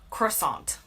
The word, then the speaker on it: croissant: In the US, I say croissant.